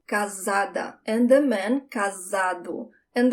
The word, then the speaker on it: casada: That S, one S between two vowels, sounds like a Z, casada.